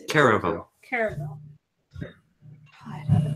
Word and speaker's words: caravel: Well, the fastest ship we have available right now is a Carville. Carville? Carville? Carabel. How do you say that? Caravel. Caravel. I butchered that word.